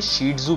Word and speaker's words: Shih Tzu: इन्हें शीट जू प्रोनाउंस किया जाता है और चाइनीज में शीट जू का मतलब शेर होता है।